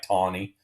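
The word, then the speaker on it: Taney: tawny is his name I know that doesn't look like tawny but tawny is how you say that and he had one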